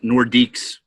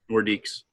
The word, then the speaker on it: Nordiques: I think it was Quebec, and it's pronounced Nordiques. Nordiques.